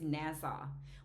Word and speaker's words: Nassau: It's Nassau.